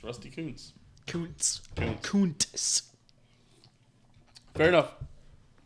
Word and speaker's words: Rusty Kuntz: It's Rusty Kuntz.